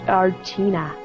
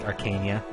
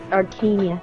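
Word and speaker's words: Archanea: Long ago, Medeus, king of the Dragonkin, conquered the continent of Archina. Yeah, there we go. Wow, yay! It's pronounced Arcania. Arcania, thank you.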